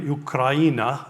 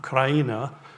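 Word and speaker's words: Україна: Ukraina. Ukraina is how you would say that.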